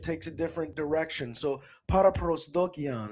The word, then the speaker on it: paraprosdokian: It's called para prosdokian. That's how you'd say it in English. With the Greek pronunciation that I use, I'm a Greek professor. Para prosdokian. But in English, para prosdokian.